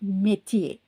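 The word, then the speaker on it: métier: ஸோ இது வந்து மெத்தியே. ஸோ கடைசியில் இந்த ஆர்எஸ்சி நீங்கள் வந்து ப்ரொனவுன்ஸ் பண்ண வேண்டியதில்லை.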